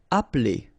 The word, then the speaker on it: appeler: Appeler. Alright, so the funny thing here is that you don't really insist on this okay? So if you listen carefully, it's just like if it wouldn't be here.